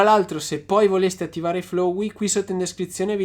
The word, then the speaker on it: Flowe: Come si legge Flow intanto? Flowey. Flowey. Prendi visione dei documento Flowey.